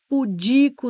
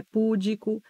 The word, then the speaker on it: pudico: gratuito não é gratuito é pudico não é púdico é Juniores é látex